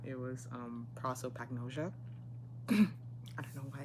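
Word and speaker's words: prosopagnosia: Turns out it was never prospagania. It was um proopagnosia.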